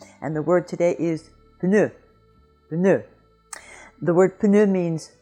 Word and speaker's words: pneu: word number 8, and the word today is pneu.